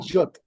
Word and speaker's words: Guillot: Es como guillotina, la guillotina francesa, Ah, pero ok, sin una. Guillot.